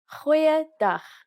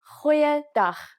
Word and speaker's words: Goeiedag: Goeiedag, ek is Anne-Marie Luck. Aangename kennis. Let's try that again. G. Try pronouncing it from the back of your throat. Goeiedag.